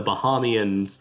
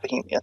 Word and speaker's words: Bahamian: Is it Bahamian? It's not Bohemian. Oh yeah, definitely not Bohemian. I thought it was Bahamian, but the Bahama people say Bahamian.